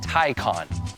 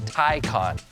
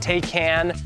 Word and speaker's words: Taycan: of people have looked up how to say tyon and that's how it's pronounced tyon not takan not takan now since the tyon dropped in 2020 there